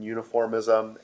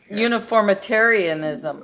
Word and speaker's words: Uniformitarianism: difference between uniformism and catas. Uniformitarianism. Oh, Yeah. geez, I missed a whole Uniformitarianism. syllable in there.